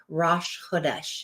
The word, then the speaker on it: Rosh Chodesh: Rosh Chodesh is how you say that.